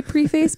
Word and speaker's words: preface: I always pronounce that preface. I know. I wanted to say preface, but I know it's preface.